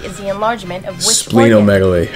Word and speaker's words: splenomegaly: Splenomegaly is the enlargement of which splenomegaly. Organ? How about spleen? The it's spleen.